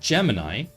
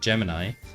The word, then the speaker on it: Gemini: Gen AI product called Gemini, which rhymes with Gen AI, and I think that's why they named it Gemini, because Gemini, Gen AI, Gemini, it just rolls off the tongue.